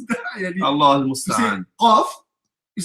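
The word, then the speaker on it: قاف: I need to know how to pronounce that. Allah al-Musta'an. Qaf. You said kaf.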